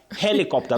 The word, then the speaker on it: helicopter: Helicopter. The stress is at the beginning.